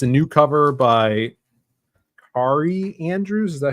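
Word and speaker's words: Kaare: dope uh drawn it's a new cover by Ki Andrews is that how you say his name oh k a a r e Carrie Carrie Andrews uh but it's it's freaking dope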